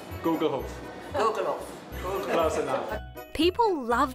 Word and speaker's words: Gugelhopf: While I've been doing a Gugelhopf masterclass, Guthart's son has been giving pronunciation lessons out the front to a steady stream of visitors. The Gugelhopf. Gugelhopf. Gugelhopf.